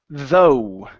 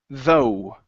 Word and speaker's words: though: good uh right here this word is pronounced though though though yeah so the GH is not pronounced in this word okay okay all right